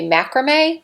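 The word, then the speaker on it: macramé: called i think it's supposed to be macrame there's just no accent on the e and i'm popping that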